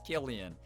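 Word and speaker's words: Cillian: I pronounce it wrong on purpose because he's my sister's celeb crush, so I don't know how to actually pronounce it. Well, now we know. It's Killian.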